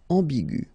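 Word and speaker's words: ambiguë: So aigu will become aigu. Another example is ambigu, and it will become ambigu. Okay, so you don't modify the way to pronounce them.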